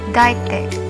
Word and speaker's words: deictic: Its term comes from the Greek meaning pointing or show, and it's pronounced as deictic.